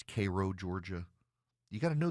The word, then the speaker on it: Cairo: They have Vienna, but it's pronounced Vienna. They've got Houston County, but it's Hston County. They have Cairo, Georgia, but it's Cairo, Georgia.